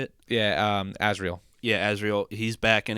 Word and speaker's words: Azrael: Azrael.